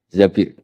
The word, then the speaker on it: Zabir: Di hadis ini bukan bacanya bukan Zubair, tapi Zabir. Abdurrahman bin Zabir.